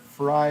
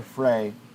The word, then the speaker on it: Fry: be uh Mike uh fry or Fray uh oh it's pronounced like his favorite vegetable the fries that's very funny uh